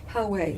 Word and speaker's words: Poway: newspaper about the shootings in, how do you pronounce that? Poway. Poway. And you, Michoel, you didn't live far from there. Tell us about that. Yeah, Poway is actually a suburb.